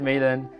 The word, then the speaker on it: Malan: Today I have the absolute privilege and honor to welcome Professor David Men. Is that the correct way of pronouncing it? It is. Yes. Um so Professor David Men um is someone who has inspired millions of